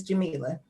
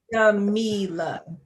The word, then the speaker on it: Jamila: You actually said it correctly. It's Jamila. Okay. Well, I Yep. actually say it more like phonetically because I have to add the E after the A. Right. So So it's Jamila.